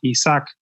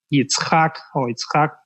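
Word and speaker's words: Yitzhak: hijo de abraham nosotros lo conocemos como isaac en el hebreo de pronunciarlo así como it's hack digamos y que claramente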